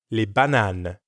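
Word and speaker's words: les bananes: bananas that's le banan li banan remember to say lay and not la when talking about more than one banan let's head to the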